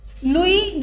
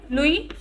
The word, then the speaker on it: Louis: in 1774 in 1774 louis xvi here s is silent louis the 16th he became